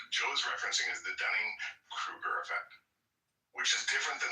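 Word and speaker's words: Dunning–Kruger: and and I like to call it the Dunning Kirk effect.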